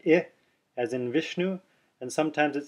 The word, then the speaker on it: Vishnu: or hear the word Vishnu Vishnu it sounds a little more like I than e you can also hear Vishnu Vishnu you hear the